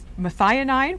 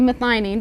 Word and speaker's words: methionine: hear about biotin and methionine forgive me if i don't pronounce it properly and correct me on that is there a certain relationship between biotin and methionine it's actually methionine but you're close i knew what you